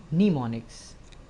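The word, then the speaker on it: mnemonics: निमोनिक codes कहते हैं इसमें एम साइलेंट है और इसको पा जाता है निमोनिक्स स्टार्ट का जो एम है यह साइलेंट है निमोनिक बहरहाल निमोनिक कोड्स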